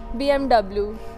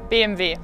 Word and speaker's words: BMW: से कि German brands को एक जर्मन कैसे प्रोनाउंस करेगा। सो हाउ वुड यू से BMW BMW Audi Audi Nivea Nivea DHL DHL Adidas Adidas